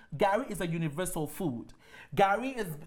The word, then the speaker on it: Gari: So number one favorite is, drum roll, Gari.